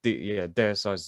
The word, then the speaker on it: Deicide: Yeah, because Deicide was, Deicide's the right way to say it, right?